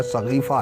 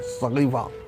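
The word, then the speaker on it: سقیفہ: सरकार दो आलम के वस्ल मुबारक के बाद एक बांस का बना हुआ बड़ा झोपड़ा जिसका सही प्रोनाउंसिएशन शहद सहीफा या सगीफा है। सगीफा हां सगीफा सगीफे के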